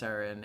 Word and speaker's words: sarin: Super minor, but sarin is pronounced sarin. It's not a JP pronunciation.